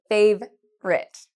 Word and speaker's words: favourite: Chúng ta không nói: "fav-our-ite", mm-mm, chúng ta nói: "fav-rite".